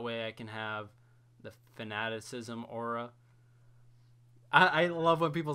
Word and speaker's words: Fanaticism: I can have the Fanaticism aura. I love when people say that wrong. They like say Fanatism, but it's Fanaticism.